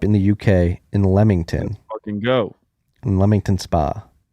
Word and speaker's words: Leamington: the uk in lemmington lemington spa it's pronounced lemington but it's spelled leamington l-e-a-m-i-n-g-t-o-n a town in